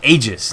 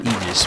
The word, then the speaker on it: Aegis: as I'm being told that's how it's pronounced Aegis not egis we were we were